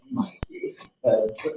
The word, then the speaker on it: Montague: Montague, is it Montague or Montague? Montague. Spelled Montague. Oh, but pronounced Montague.